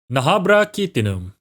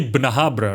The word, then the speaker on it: Bnahabra: finally I know something nahra Kum wait that's wrong pronunciation it should be bnahabra right the Japanese name is bnahabra yeah nahra kumen is